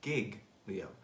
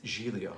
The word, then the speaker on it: Giglio: it's l i g-i-g-l-i-o like gig leo but of course he's italian i'm half italian and it's julio it's beautiful name so